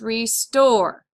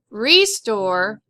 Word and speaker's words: restore: Heads up, we've got the RE, so we're going to accent this part of the word, this syllable. It's restore. Not restore, it's restore. All right, another one.